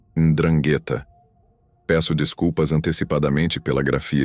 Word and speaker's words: 'Ndrangheta: No entanto, L também tem um lado sombrio, e seu nome é 'Ndrangheta. Peço desculpas antecipadamente pela grafia estranha. É muito diferente do calabrês. Você pronuncia a palavra como 'Ndrangheta, e ela vem de uma palavra grega que significa heróico ou corajoso.